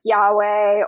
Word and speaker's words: Yahweh: So it's usually pronounced as like Yahweh or Jehovah.